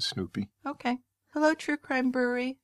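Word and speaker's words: Snupie: It's not spelled like the dog Snoopy. It's S-N-U-P-I-E, but I think that's how you pronounce it. Well, I pronounce it Snoopy.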